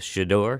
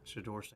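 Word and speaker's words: Shedeur: So you're you're a fan of Shidor." Shidor is how you pronounce his name. Shador. Shidor Sanders.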